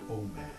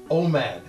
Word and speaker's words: Omad: Just make sure when you say it, you don't pronounce it exactly the way it's spelled. He seems a little sensitive about that. Just try it with an accent or something.